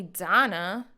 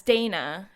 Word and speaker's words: Dana: and you know that call me donna is when i'm in spain or you know someone from a different culture right because they pronounce their um their words and and syllables like differently so i'm like jesus christ